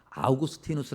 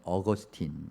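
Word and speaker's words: 아우구스티누스: 삶을 살면서 그것이 좋았다 아구스티누스 하는 분이 있습니다 영어식 발음으로 하면 어거스틴 건데이 아구스티누스 하는 분이 아주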